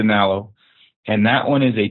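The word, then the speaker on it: Nallo: I think it's pronounced a Nalo, and that one is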